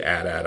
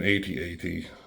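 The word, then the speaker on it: AT-AT: but that's cool at8 I never say at at I think that's the dumbest way to say it it's an at8 but you know you do you you say it wrong if you'd like but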